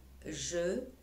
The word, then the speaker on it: je: Eh bien, pour les petits mots grammaticaux comme je, te, ce, ne, que, eh bien là, je dois lire, je dois prononcer le E.